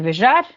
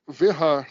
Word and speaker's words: Vejar: Na verdade é Mike Verhar, tá? Ninguém, eu sei que ninguém chama ele assim, mas é, é forma que se pronuncia o nome dele. O J tem som de H em inglês, né? Então é Mike Vharard.